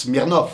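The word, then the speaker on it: Смирнов: sont durcies, en fait, on écrit Smirnov, alors qu'en vérité on prononce Smirnov.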